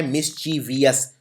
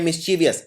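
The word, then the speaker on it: mischievous: है अगला है मिसवियस अब देखिए बोलने में आता है मिसचीवियस तो लोग ऐसे लिखते हैं वीएस को वी आई ओ यू एस लेकिन इसमें ये आई नहीं आता हां बोलते हैं मिसचीवियस पर लिखते हैं मिसचीवस तो सिर्फ वी ओ यू एस आएगा और मिसचीवस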